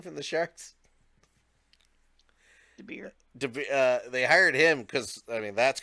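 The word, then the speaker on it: DeBoer: They fired their coach, hired how do you pronounce his name from the Sharks? DeBeer.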